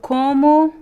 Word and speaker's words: como: pronunciation is the same como como there is no no difference the first o is actually a little bit nasal combo because of the letter M so usually when you see the letter O followed by the letters m or n usually they always in the last o usually when you see the letter O at the end of um words if there is no graphic accent usually it's it sounds like here we have the word